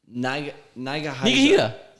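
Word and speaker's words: Nigahiga: Oh, Niga Higa. I wasn't about to say it like that. Is that how you say it? It is how you say it. Okay. Niga Higa, yeah.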